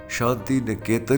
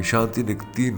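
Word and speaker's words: Shantiniketan: video میں ۔میں نے ان کے ادارے کا نام شانتی نے کے تن کی بجائے شانتی نکتین بولا میں بہت معذرت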